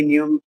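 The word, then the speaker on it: knee: নি কারণ হচ্ছে কি কে এবং এন দুইটা একসাথে থাকার কারণে আমি স্বাভাবিকভাবে কে এর উচ্চারণ বাদ দিতে হবে এন থেকে দিতে হবে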